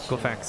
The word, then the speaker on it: Glafx: Glafx.